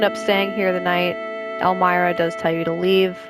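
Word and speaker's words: Elmyra: you do end up staying here the night elmira does tell you to leave so this is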